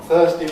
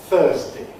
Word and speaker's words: Thursday: I said Thursday with D at the end, it can alternatively be pronounced Thursday with a good anything there.